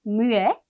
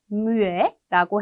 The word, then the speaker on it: muet: 남성형은 muet, muet라고 해서 마지막 때를 발음을 해주지 않는데요.